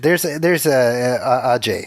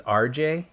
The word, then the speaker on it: Ajay: I thought his name was RJ. Uh-huh. The way that he pronounces it. Not that he does it weird, just the way I heard it, I should say.